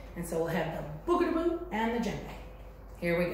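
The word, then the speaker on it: bougarabou: had to leave, and this is called a boogadaboo. I'm gonna have you try and pronounce it.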